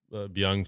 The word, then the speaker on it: Byung: Is that how you pronounce her? Byung, yeah. Byung.